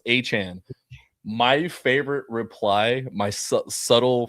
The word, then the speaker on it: Etienne: He said, it's not Etienne. It's actually pronounced Achan.